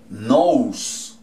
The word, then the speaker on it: nose: ¿Cómo se dice la O en inglés? O. Entonces nariz se dice nose.